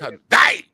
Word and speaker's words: Hyundai: I don't know how much I'm paying, so I don't even know how to pronounce it. It's Hyundai.